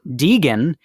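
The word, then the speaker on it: dygn: pronounce it right but I think it's pronounced Dean d y g n that means anger or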